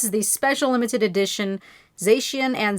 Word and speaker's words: Zacian: So cyan for Zacian and magenta for Zamazenta.